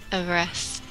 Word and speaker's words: Everize: Everize. Everize. It's like ever Everize. And eyes.